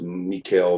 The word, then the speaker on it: Michiel: It's a typical Dutch name, Michiel, but you can pronounce it Michael, Michael.